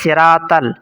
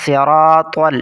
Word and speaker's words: الصراط: پہلا لفظ ہے صراطل، صاد بھی موٹا ہے، را بھی اور طا بھی، اکثر لوگ پڑھتے ہیں صراطل، صاد کی جگہ سین اور طا کی جگہ تا جو کہ غلط ہے، درست لفظ ہوگا صراطل، صراط الذین۔ یہاں پر